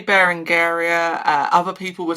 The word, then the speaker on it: Berengaria: to say it, but I would say Barangaria. I think that's the way to go with it.